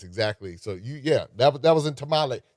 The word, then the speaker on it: Tamale: And that's exactly, so that was in Tamale. Tamale.